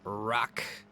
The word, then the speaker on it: RACC: The chicane rock, that's how they pronounce it, RACC.